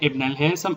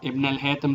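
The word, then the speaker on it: Ibn al-Haytham: इब्न अल-हैसम और इब्न अल-हैतम, जो भी बोलते हैं, लेकिन स्पेलिंग और नाम आप लोगों ने यहाँ एमसीक्यूज में करेक्ट ऑप्शन पे टिक करना है।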